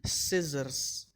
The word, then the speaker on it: scissors: C silent after S, muscle, scissors, fascinate, scene, scenario.